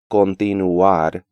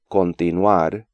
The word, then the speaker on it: continuar: Even advanced students tend to pronounce these words as continuar, mutuar, and situar, when more accurate pronunciation is continuar, mutuar, and situar. I think that imagining these diphthongs spelled the way they're transcribed, with a W, really helps English speakers pronounce them as a single syllable.